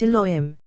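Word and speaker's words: יהוה: Second, Yehovah, pronounced Elohim, for that river is of compassion, and since judgments are aroused from it, it is spelled as compassion and vowelized as Elohim, but it is not Elohim.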